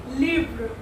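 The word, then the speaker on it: livres: से सो में लिव्र, लिव्र means book होता है, और वी यूज एस एट द एंड for making it plural, but हम यहाँ पे एस को प्रोनाउंसिएट नहीं करेंगे, वी प्रोनाउंसिएट ओनली लिव्र।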